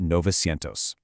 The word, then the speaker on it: novecientos: But look at seven and nine. They actually shift their vowels. Siete drops the i and turns into sete, becoming setecientos. And nueve drops the u and the e to become nove, making it novecientos. setecientos and novecientos. It actually makes them roll off the tongue a bit faster, but man, you really have to watch out for that spelling change.